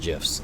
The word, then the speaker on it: GIF: he actually came out and formally said it's pronounced gifs like the peanut butter all I can think